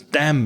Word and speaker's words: damn: So, you don't pronounce the final N, but you have to write it.